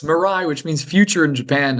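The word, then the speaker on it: Mirai: No, it's Mariah, which means future in Japan.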